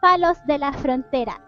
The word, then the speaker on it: Palos de la Frontera: It's palos de la frontera. Thank That's how you pronounce that.